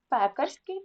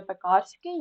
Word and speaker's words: пекарський: металургія тому що Металург пекарський тому що пекар так не пекарський ні пекарський підлітковий тому що підліток боязнь